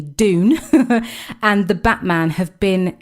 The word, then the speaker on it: Dune: So June, I say June, but it's spelled with a D, Dune, and The Batman have been delayed due to COVID-19, which is mahoosively frustrating.